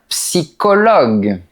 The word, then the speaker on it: psychologue: Mais on dit un orchestre et un psychologue. Oui, c'est comme ça. Il faut apprendre la prononciation par cœur.